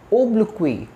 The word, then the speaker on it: oblique: then we have oblique it's O oblique say with me oblique next one panic very